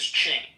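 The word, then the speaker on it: Qing: Hello, Quing, if I'm pronouncing that right. Quing. Quing. Q-I-N-G. Q-I-N-G once. Oh, there he goes. It's pronounced as Ching.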